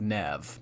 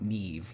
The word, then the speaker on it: Nev: I will do that I'd imagine you want it pronounced Nev not Neeve like that guy on Catfish thank you so